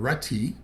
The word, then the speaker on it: Rutty: name is uh rutty uh you you made sure to pronounce the t's i would have said ready just because in california we shorten everything caleb we're going to talk